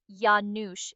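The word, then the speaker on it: Janusz: You pronounce it Yanoush. It's a common Polish name.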